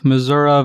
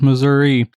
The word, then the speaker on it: Missouri: and it looks like it's roughly half and half Missoura versus Missouri there's some like suggestion